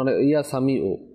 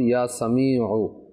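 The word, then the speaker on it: يا سميع: পাঁচ ওয়াক্ত নামাজের পরে ইয়া সামিউ এখন ইয়া সামিউ এমনে পড়লে তো লাস্টে যে আইন রয়েছে আইনের উচ্চারণ হবে না হামজার উচ্চারণ হয়ে যাচ্ছে উচ্চারণ সঠিক ভাবে করতে হবে ইয়া সামিউ 100 বার পাঁচ ওয়াক্ত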